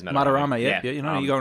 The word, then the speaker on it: Madarame: I don't know if I pronounced the is it Madarame? Yeah, it's Madarame.